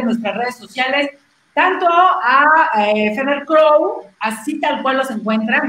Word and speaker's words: Feather Crow: Para que Feather Crown.